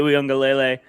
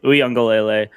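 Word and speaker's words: Uiagalelei: Sorry, DJ Uyunglele. I am proud. I know how to pronounce that name because it's going to be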